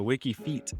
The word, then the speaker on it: WikiFeet: of those websites that people, just go on WikiFeed, like Mm-mm, And I that's a thought it was legit thing. pronounced WikiFeed. Mm-mm. And I was just like, that's kind of, WikiFeed, that makes perfect sense. But WikiFeet, it's just, I don't know, it's just a